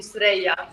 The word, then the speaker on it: Suerraya: That's the American way, yes, Suerraya. Okay. But the real traditional way would be Suerraya.